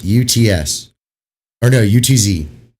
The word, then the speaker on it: Utz: They're called UTS. UTS or no, UTZ, how it's spelled.